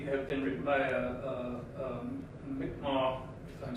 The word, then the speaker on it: Mi'kmaq: been written by a Mi'kmaq, if I'm saying that right. It looks like Micmac, but it's pronounced Mi'kmaq. like Mackinac Island.